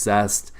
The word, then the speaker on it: Zest: it looks like zeus but it's pronounced zest 1835 square feet plan